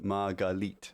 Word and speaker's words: Margalit: Margalit, is that if I'm pronouncing that right, is pronounced Margalite.